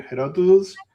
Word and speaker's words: Herodotus: Okay, and then a couple of things very quickly that how you pronounce the name of the historian here? Herodotus.